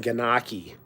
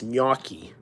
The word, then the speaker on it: gnocchi: to pronounce gnocchi um he was saying ganaki which is not right it's Miyaki so anyway all right